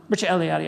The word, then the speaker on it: Mircea Eliade: Um but Eliade, um Mircea Eliade I think is the right way to say it, but I I always get that wrong for some reason.